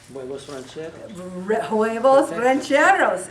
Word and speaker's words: huevos rancheros: there okay I have a recipe here for juevos Rancheros Tony I could have you say it for me he's a Spanish teacher at OCC but how do you say it huevos rancheros inspired spaghetti squash listen to this a medium